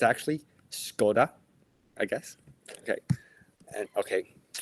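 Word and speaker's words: Škoda: guess a symbol above the small S, you pronounce it S. So it's like Elishka. And I I always thought it's called Scoda, the car brand, but it's actually Scoda, I guess.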